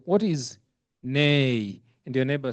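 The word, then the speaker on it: né: The the word is not pronounced ni. It's nay. It's French word, isn't it?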